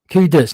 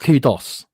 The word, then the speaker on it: kudos: Kudos, not kudos. We could call it whatever we want. I've been pronouncing in kudos, but it's kudos.